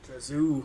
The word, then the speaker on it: Drazu: That is how you say that. Drazu.